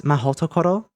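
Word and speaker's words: Mahoutokoro: Unfortunately, Japanese doesn't really work like this, and it wouldn't be Mahhootokohro. Here's what it would look like. In case you don't get it and you're an English speaker, to roughly compare it, most syllables in Japanese will be read with 2 letters, a consonant and then a vowel. So it would be Mahhootokohro, not Mahhootokohro.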